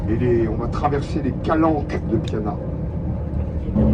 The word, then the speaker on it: calanche: Une italienne corse et le CH se prononce que. Alors voilà pourquoi on prononce calanque alors que ça s'écrit calanche.